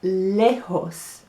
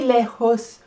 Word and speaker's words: lejos: And far is lejos. So maybe you have to use your horse to go far. Lejos. Spelled with a J.